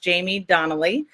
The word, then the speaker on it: Jaime Donally: And the sound is Jaime Donally.